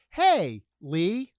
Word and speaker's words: Haley: But now I've learned you said it's like saying hey Lee. Like if you saw someone named Lee and you wanted to say hey, you say hey Lee and it's Haley.